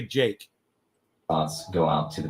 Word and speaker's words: Jikh: His name is spelled Jikh, Jake. Andre Jake, and it's Andrei, Andre, space Jikh. All right, that's how you spell his name. It's pronounced Andre Jake.